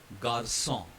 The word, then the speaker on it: garçon: So whenever you see C with a, that squiggly cedille line, I'm sorry I forgot to add it in this presentation. It will be pronounced as sa.